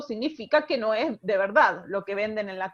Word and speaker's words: verdad: suele pasar siempre decimos la d es una consonante interesante en español porque se pronuncia a veces tan suave tiene tan poca fuerza que a veces desaparecen o la famosa verdad eso nadie dice nadie